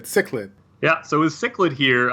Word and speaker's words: Cichlid: to be criticized as far as the uh pronunciation goes we looked it up we googled it because we're Millennials right cichlid cichlid yeah so with cichlid here uh she's got